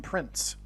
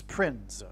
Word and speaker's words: Prinze: And that's why this actor's name is Prinze, P-R-I-N-Z-E. I don't know how you pronounce it. It could even in fact be pronounced as Prince. I don't know. But it definitely rhymes with Prince nonetheless.